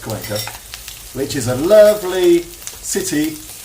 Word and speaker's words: Cuenca: I think it's pronounced Cuenca, but you say it's Cuenca. Cuenca. Yeah, so it's pronounced Cuenca, which is a lovely city up in somewhere up in the hills of Ecuador.